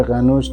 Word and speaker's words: قنوج: شاهنامه بهش اشاره شده این شهر قنوج تلفظی مختلف داره من همون تلفظ شاهنامه شو خدمتتون عرض می‌کنم و بهش میگه که